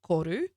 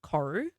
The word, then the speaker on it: koru: Um, I don't pronounce it the proper mai way for my name, but the proper Marty way to pronounce this is koru, not koru.